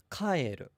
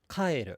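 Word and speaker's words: 帰る: If you say the word for go home, it's kaeru, kaeru, with the accent on the first mora, kind of the first beat of the word.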